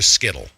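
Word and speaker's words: Scytl: data, is offshored to Skittle. It's pronounced Seitel, but I'm going to call him Skittle.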